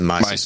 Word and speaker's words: Mises: too long ago about, you mentioned the Mises Institute, which I think you pronounced it Mises. Mises, yes, thank you. Yeah, but it's the Mises Institute.